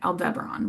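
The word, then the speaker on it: Aldebaran: So, we're focusing then on Al Deberon. Oh, that's how you say it right. Al Debron, which is the Watcher of the East.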